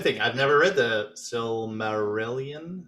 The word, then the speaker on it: Silmarillion: I've never read the Silmarillion. How do you pronounce that?